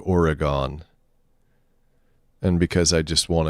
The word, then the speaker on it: Oregon: uh oregon uh uh the schwa oregon well it's still three syllables it's just it's oregon instead of oregon and because i just